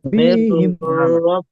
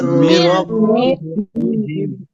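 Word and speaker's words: مِنْ رَبِّهِمْ: নুনটা মির পড়া যাবে কি রব্বিহি এখানে? মির রব্বিহিম। এখানে কি রব্বিহি নুন পড়া যাবে? হবে না, পড়া না যাবে না। না। মির রব্বিহিম। মির মির রব্বিহিম তারপরে এখানে নুন সাকিনের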